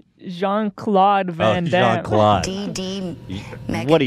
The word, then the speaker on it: Jean-Claude Van Damme: It's Jean-Claude Van Damme.